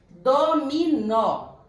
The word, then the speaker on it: dominó: Dominó. A sílaba tônica é o nó. É a última, então ela é oxítona.